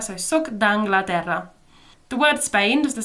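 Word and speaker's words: sóc d'Anglaterra: Sock d'Anglaterra? Yeah, exactly. You just combine those sounds, the E and the A for Anglaterra, so soc d'Anglaterra.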